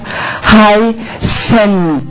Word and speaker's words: heißen: So if you have the infinitive form of a word, you will have heißen. Heißen. And I need to hear this. If I don't hear this N, I think you are saying something different, right?